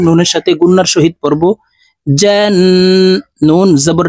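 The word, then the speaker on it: الْجَنَّةَ: সাথে গুন্নার সহিত পড়বো জান নুন জবর না তা জবর তা জান্নাতা মুলতা ওয়াকফুর ক্ষেত্রে হার উচ্চারণ হবে এবং হা কে সাকিন করে ফেলবো এভাবে শব্দটি বলতে হবে দেখুন জান্না জান্নালাইতামিন কফ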